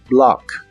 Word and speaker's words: block: block que significa bloquear la o de esta palabra se pronuncia como a profunda como si hicieras este sonido en la garganta block block Y estos son